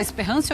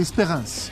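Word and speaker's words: Espérance: Você vai falar Esperança ou Esperancia? Eu vou seguir a sua pronúncia. Esperance. Tá bom. Então, gostei. Adorei essa pronúncia.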